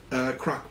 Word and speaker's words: Kraak: really started being exported earlier and that was crock porcelain and that is spelled K or a a.k.a scholars believe the